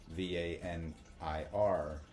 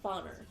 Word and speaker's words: Vanir: S-I-R, and then what I have deciphered as Vanir, V-A-N-I-R, which you pronounce as Vanir.